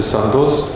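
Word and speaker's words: Sandoz: did this would be santos i hope we're pronouncing that right that's the way this is absolutely correct yeah in russia and then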